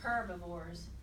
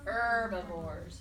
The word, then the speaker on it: herbivores: that yes ma'am okay they spelled like this look but the H is silent ok so you don't say herbivores you just say herbivores okay and who can